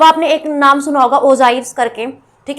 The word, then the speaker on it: ogive: अब आपने एक नाम सुना होगा ओजाइव्स करके, ठीक है, स्पेलिंग ये होती है इसकी ओजाइव, OGIVE, ये होता है हमारा ओजाइव्स।